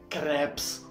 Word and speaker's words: crêpe: Y no es crepes, croissants, papas a la francesas, escargots. Primero que nada de eso se pronuncia así. O sea, se dice croissant, crepe, escargot.